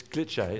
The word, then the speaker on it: Glitché: Yeah, talk to me about some of the apps, because you mentioned, is it Glitché or Glitch? It's Glitché. Glitché. It has an accent on the E.